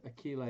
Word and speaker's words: Achille: It's pronounced Akil, like the Greek hero, minus the S at the end. Achille.